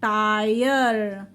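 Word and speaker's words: tire: ई silent हो जाएगा ट आय र टायर ई साइलेंट हो गया हाई यर ह आय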